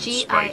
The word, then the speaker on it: Gilgal: There's more hints of oak and herb and G-I-L-G-A-L, spice than just over the top.